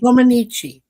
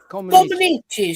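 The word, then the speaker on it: Comăneci: Comaneci. Comaneci.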